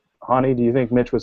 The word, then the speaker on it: Honi: We actually talked about this before we went on the air, but it is pronounced Honi. Like H-A and then knee, like Festus Ezeli's knee injury problem.